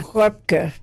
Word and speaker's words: Röpke: How do we say her name now in German? Röpke.